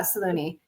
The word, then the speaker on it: Saloni: how do you say your last name yeah Salone yeah a l o n i c h